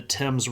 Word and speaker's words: Thames: This is also where we get the Thames River, but it's spelled THAMES. Because that TH gets sort of clipped off as just a T sound.